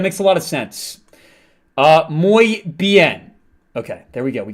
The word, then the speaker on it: muy bien: It's pronounced muy bien. Oh, that makes a lot of sense. Muy bien.